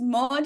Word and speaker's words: Maud: you can call me mod you can call me mod or whatever it is that you prefer I'm used to all those pronunciations of my name I was born and